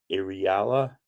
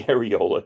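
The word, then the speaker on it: Areala: Warrior Nun Aurelia, Ariala. I watched the damn show and I don't even know how to pronounce it. Ariala. Don't say areola because it's not, though that's kind of where your mind wants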